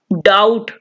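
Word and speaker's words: doubt: डाउट, शक करना, बी इसमें साइलेंट होगा इसलिए बी को नहीं पढ़ेंगे।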